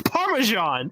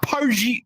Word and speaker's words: Parmesan: It's not even how you say it. It's Parmesan. It's not Pargi.